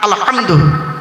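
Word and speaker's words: الحمد: আলহামদু, গলার ভেতর থেকে এটা উচ্চারণ করবেন, আলহামদু। এর বাংলা মানে কি?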